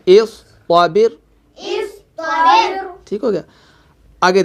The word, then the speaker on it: اصطبر: دیکھیں جی اس کے ہجے کہتے ہیں جی. حمزہ صاد زیر اس. طا زبر طا. اس طا. با را زیر بر. با را زیر بر اصطبر.